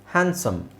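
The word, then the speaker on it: handsome: ಒಂದು ಎಕ್ಸ್ಟ್ರಾ ಅಕ್ಷರ ಹೇಳ್ತೀರಾ ಹಾಗೆ ಹ್ಯಾಂಡ್ ಸಮ್ ಹ್ಯಾಂಡ್ಸಮ್ ಅಂತ ಹೇಳುವುದರ ಬದಲು ಹ್ಯಾಂಡ್ಸಮ್ ಡಿ ಇಸ್ not necessary ಹ್ಯಾಂಡ್ಸಮ್ hedge hedge sandwich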